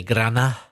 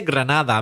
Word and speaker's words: Granada: Or, forgive me, but as I've heard some people say, Grana. Some people from Granada, not pronouncing the D. Soy de Granada. Have you heard people say that? I have. You didn't, Ignacio. You say Granada, but some people say Grana.